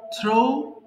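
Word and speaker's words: threw: ছিডেন থ্রো নিক্ষেপ করা থ্রো থ্রু থ্রোন বাট এখানে কিন্তু ভুল বলি আমরা থ্রিও বলি এটা কিন্তু থ্রি হবে না এটা হবে থ্রু এরপর দেখেন থ্যাঙ্ক ধন্যবাদ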